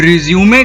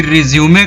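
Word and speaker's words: résumé: तो रिज्यूमे का जो प्रोनाउंसिएशन है, आपने जो अभी ठीक से सुना, उसे रिज्यूमे कहा जाता है, उसे रिज्यूम नहीं कहा जाता है।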